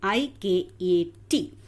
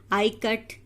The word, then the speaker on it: Ikat: So now Janaki teacher explained them how to pronounce the word I-K-A-T. I as in it.